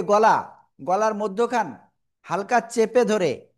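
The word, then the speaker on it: ح: তো দেখেন, এটা আমরা যদি উচ্চারণ বাংলায় লিখি তাহলে কি হয় আকারে? হা, তাই না? আবার এটার উচ্চারণ তো এরকম না, হা, গলাটা চেপে উচ্চারণ করতে হবে।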